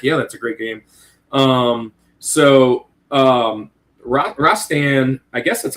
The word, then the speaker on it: Rastan: Rastan, I guess that's how you say it. Is that how you say it, Owazrim? Rastan? Say Rastan, but yeah, yeah.